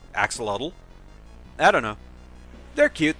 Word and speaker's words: axolotl: I mean, it looks like it would be said like axolotl.